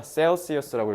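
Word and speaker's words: Celsius: 그래서 평균적으로, average가 평균이라는 뜻이니까 on까지 쓰면 평균적으로 라고 부사로 해석하면 되고 it is about minus 60 이거 degrees 그러면 섭씨잖아. 셀시어스라고 읽으면 돼요.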